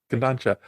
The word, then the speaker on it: Kodansha: Kodansha.